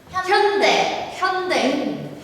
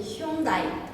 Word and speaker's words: 현대: 현대. 현대백화점. 현대백화점 말고 현대. 브라질에서는 우리 휴다이. 현다이. 벨기에랑 비슷하네. 현다이. 현다이. 저거를 현다이라고 읽나?